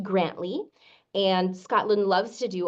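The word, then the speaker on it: Grandtully: it it looks like the town is in Grand Tully but it's actually pronounced grantly and Scotland loves to do all sorts of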